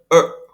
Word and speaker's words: er: Dan yang ke-8, vokal yang ke-8 bacanya er. Nah, R-nya tidak terdengar bergetar seperti dalam bahasa Indonesia. Namun dia hanya membaca tapi lidahnya ditekuk ke dalam.